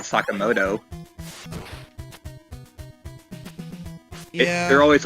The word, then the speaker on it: Sakamoto: They call Ryuji Sakamoto and not Sakamoto.